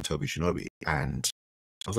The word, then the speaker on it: Shinobi: the playground and said is your name Toby Shinobi and I was like it's Shinobi was a popular video game at the time